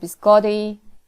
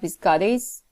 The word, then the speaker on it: biscotti: So what's happening? Tapping happens. Biscottis. Biscottis. And the pronunciation of the vowel changes, and S, in order to makes it plural, is added to the word. But in the second sentence, we have biscotti, which is a plural word in Italian, and the pronunciation is different from that which is borrowed into English.